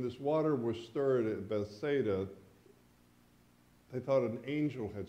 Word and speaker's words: Bethesda: gate pool at Bethesda I Call Bethesda and it's not Bethesda it's a different pronunciation which Jim will correct me on the original was Beth Betha thank you I'll try that Beth